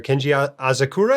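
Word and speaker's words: Kenji Asakura: you we have dr lutezia alto and dr kenji azakura am i pronouncing that right that's right every time i'm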